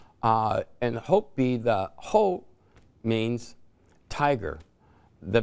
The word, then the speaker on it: Hopi: Nobody knew it's Hopi. And Hopi, the Ho means tiger. The P, okay, which is interesting because the I is pronounced as an E.